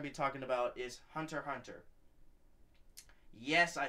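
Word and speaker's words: Hunter × Hunter: be talking about is Hunter Hunter yes I said this I said this correctly this time it's not Hunter X x Hunter it's Hunter Hunter the x is silent so hopefully everybody understands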